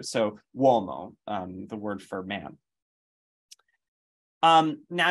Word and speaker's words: uomo: And then also a U can sometimes function as like a W. So uomo, the word for man.